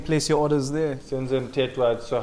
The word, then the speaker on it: Mthethwa: Senzo Mtetwa.